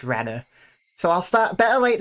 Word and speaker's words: Rena: Reena, however, is not pronounced Reena, but rather Rena.